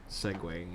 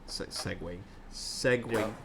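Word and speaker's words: segueing: keeping entertaining by just segwaying and seguing Segway I said it right the first time and I tried to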